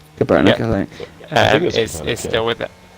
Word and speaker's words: Kaepernick: I don't know how you pronounce his surname. Kaepernick. Kaepernick, Yeah.